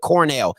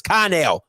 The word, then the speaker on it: Connell: I had to recheck it because I'm looking at, he put Cornell. It's Connell, sir.